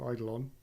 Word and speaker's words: Eidolon: An upcoming expansion called the Plains of Eidolon. Again, nailing the pronunciation. Eidolon? It's Eidolon. I watched the video. It is Eidolon.